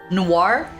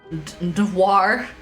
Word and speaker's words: noir: Noir?